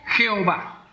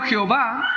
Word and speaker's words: Jehová: que son distintas vocales lo que posteriormente se pasó a pronunciar como yahová y yahová al español se transmite era como Jehová o sea en pocas